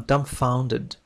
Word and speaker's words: dumbfounded: I'm dumbfounded. I'm dumbfounded. B لا تنطق.